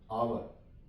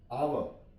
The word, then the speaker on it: hour: For example, HOUR, तो इसे हम पढ़ेंगे आवर, आवर, आवर, यहां पे भी आर साइलेंट है।